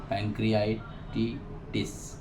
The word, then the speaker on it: pancreatitis: अग्नाशय के शोथ को पैंक्रियाटिस कहते हैं, पैंक्रियाटिटिस, क्योंकि स्पेलिंग प्रोनाउंस में भी डॉक्टर्स धोखा खा जाते हैं।